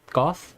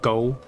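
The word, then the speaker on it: Gough: that's what i believe it was confirmed at one point that is pronounced goth and not go the same for smo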